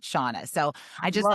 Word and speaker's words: Shanna: don't people my mom read a love novel and it was SHA, so it's like Shanna, but she gave birth to me, so we pronounce it Shauna.